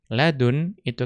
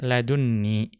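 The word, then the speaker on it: لدني: Ladun itu ketika bersambung dengan ya mutakallim itu dibaca ladunni karena adanya nun wiqayah. Tetapi laduni qalla yang tanpa tasydid itu ya lebih jarang, lebih sedikit.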